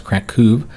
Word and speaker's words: Kraków: Apparently I was pronouncing that wrong as well. That's Kraków. The O with the little accent above it is the U sound.